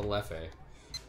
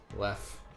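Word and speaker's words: Leffe: The Hefe, which is next to the Lefe. Lef. It's actually pronounced Lef. It is Lef. Yeah. But I say Lefe because I'm dumb.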